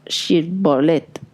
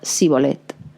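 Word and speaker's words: shibbolet: Si él respondía no, le volvían a decir, "Pronuncia, por favor, shirbolet." Pero él pronunciaba sibolet, pues no podía pronunciar correctamente esa palabra.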